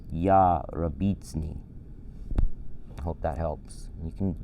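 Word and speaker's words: יַרְבִּיצֵנִי: But to slow it down and simplify it, it's ya rabitzni.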